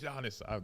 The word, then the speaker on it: Giannis: I said it right Giannis I know you you keep giving me but it's not Giannis Giannis the g is silent can you do the